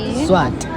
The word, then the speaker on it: Swati: Indlela futhi upronounce ngalo le language yeni kuthiwa yini Swati angithi. Swati.